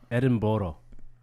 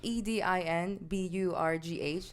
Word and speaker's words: Edinburgh: I can't say that that's just no it's Edinboro no well a lot of them it's spelled e-d-i-n-b-u-r-g-h so for the longest time I thought it's Edinburgh yeah my dumbass but